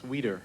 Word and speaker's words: Weider: Is there a Weider? Mr. Weider, am I pronouncing your last name properly? That's Weeder.